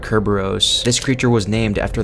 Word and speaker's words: Cerberus: in the secondary form pronounced as the Greek word Kerberos this creature was named